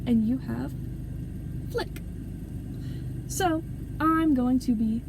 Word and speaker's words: Fliqpy: So, first things first, I'm going to be addressing this guy's name as Flick. You know, like flicking a light switch.